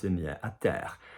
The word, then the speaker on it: terre: not in the air, à terre. Say for me, terre, terre, à terre. So a little bit of a ducky quality sound there.